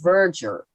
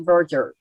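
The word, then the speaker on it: verdure: the pronunciation and it's verger like a j juror like a merger yeah like a merger merger except verger not like a murderer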